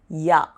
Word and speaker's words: ja: language, and that is ja. But here the spelling is J-A, Yot A, because J is pronounced as Yot.